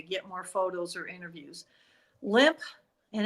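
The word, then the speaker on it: Lemp: Limp, and it's spelled L-E-M-P, Limp Mansion in St.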